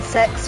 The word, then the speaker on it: CeX: Uh, sex is our secondhand game shop. It's actually CEX, but reportedly you're supposed to pronounce it the way it's written.